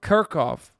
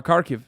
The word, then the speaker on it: Kharkiv: Because then they would take over Kharkov. You know what I mean? Or Kharkiv, sorry.